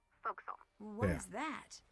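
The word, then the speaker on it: forecastle: okay sh fact the for Castle on a ship refers forward deck of a sailing ship but it's pronounced fil what is that try pronouncing it like an English sailor with no formal education F Castle folville over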